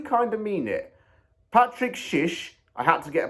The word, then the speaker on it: Szysz: one thing that turkey does very well is shish kebabs so it's no surprise that this player's name fits perfectly with Turkish culture and I do kind of mean it Patrick Shish I had to get a pronouncer on the name because it was a